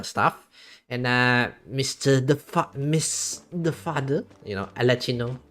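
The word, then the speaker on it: Arlecchino: Since we got the Chronicle stuff, and Miss the Father, Alachino. That's how you pronounce her name.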